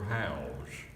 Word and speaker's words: Howze: him well but I got to meet father house and that is spelled won't you're spelling right with a Z